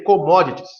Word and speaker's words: commodities: Se escreve commodities, né? Mas se lê commodities, beleza?